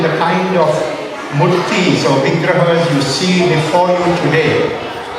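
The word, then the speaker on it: विग्रह: So, Vigraha, not Vigraho, as we say in Bengali.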